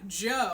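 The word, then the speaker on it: Djo: Oh my god, Joe. The way you spell it is D-J-O.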